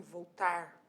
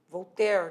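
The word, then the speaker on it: Voltaire: segundo voltar voltar até fui ver a pronúncia desse nome voltar volter na verdade e vamos lá então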